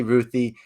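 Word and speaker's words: Ruthye: it repeat uh yeah ruthie that that's what i like ruthie ruthie okay because it's spelled r-u-t-h-y-e-e yeah but it can be pronounced different ways but i say ruthie this is a book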